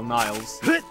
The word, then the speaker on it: Niles: It's only Niels because I say so, but it's actually like the River Nile, Niles.